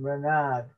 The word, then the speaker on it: Renard: and so he was his name renard or spell spelt renate is pronounced renar is it yeah it's french for fox yeah um we'll finish